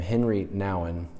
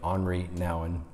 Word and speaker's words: Henri Nouwen: There's a Catholic writer named Henry Nouwen. It's not quite how you say his name, but Henri Nouwen.